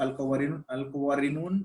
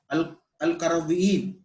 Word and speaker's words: Al-Qarawiyyin: So this madrasa, it became a university, and it is known as the University of Al-Qawarinun, or let me, it's very difficult to pronounce that name. Let me check. Al-Qarawiyyin.